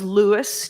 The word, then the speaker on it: Louis: Lewis Armstrong was Lewis to himself and to all those who were close to him, including all of his wives.